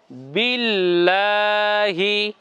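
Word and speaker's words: بِاللَّهِ: ধরছে সরাসরি কাকে তাসদিদকে এজন্য উচ্চারণ কেমন হবে বিল লাম কে ধরে ব এর রশি বি আর লাম এর সঙ্গে লেগে যাবে বিল এরপরে লামে খাড়া জবর আছে টান হবে লম্বা লা এরপরে হা এর অস্বীকার আছে হি উচ্চারণ কেমন হচ্ছে বিল্লাহি বলুন বিল্লাহি আমরা যে গুন্না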